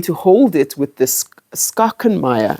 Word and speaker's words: Schachenmayr: And then I'm going to hold it with this schachenmayr. I think it's schachenmayr. Yes, Schachenmayr. Pronouncing it correctly.